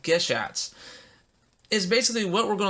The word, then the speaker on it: Gashat: later down the road, they're actually Geshats. It's spelled Gashat.